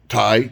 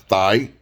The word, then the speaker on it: Thai: And if the woman corrected him and say, no, it's pronounced, you know, Thai, not thigh, he'd ghost her ass.